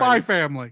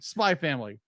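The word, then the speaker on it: SPY×FAMILY: spyx family that's right spy family spy family the ex is silent okay the ex is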